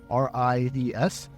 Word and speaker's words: Ries: Ries is spelled Ries, R-I-E-S, but it's pronounced Ries.